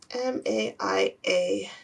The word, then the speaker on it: Maia: Google how to say M-A-I-A pronunciation. Maia. Oh, it's just Maia? Well, I can say that. Maia. Okay, sorry. Maia. I overthought that.